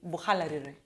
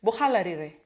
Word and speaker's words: Buhalarire: ancestral home in Buhalarire, or should I pronounce it like Aluya? Marachis, I'm not Marachi though, but Marachis say Buhalarire. Yeah, my nyanya is Marachi, or my grandma is Marachi, so she says, Bohalarire.